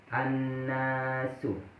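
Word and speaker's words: النَّاسُ: Sedangkan nun di sini termasuk salah satu huruf as-samsiyah dan cara bacanya diidghamkan atau memasukkan al pada huruf sesudahnya, yaitu nun.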